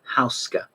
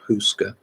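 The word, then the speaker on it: Houska: It was many years before I knew how to pronounce her name, which is Jovi Hauska. She would forgive me if I called her Jovanka, but that is how it is pronounced, not Huska.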